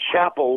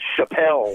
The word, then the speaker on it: Chapel: out under the name Chapel, which is his middle name, but we changed the band's name to Pyle Tribe because everybody kept pronouncing it Chappelle.